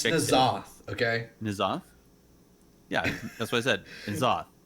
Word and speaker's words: N'Zoth: If you go there, you can take the poll on how is it pronounced, N'Zoth or Enzoth. It's definitely N'Zoth.